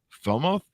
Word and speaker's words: Falmouth: In 2012, University College Falmouth, and awarded David an honorary fellowship in recognition of his contributions to landscape architecture profession.